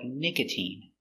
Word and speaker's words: nicotine: it's I like Valentine sometimes it's e like nicotine and sometimes times it's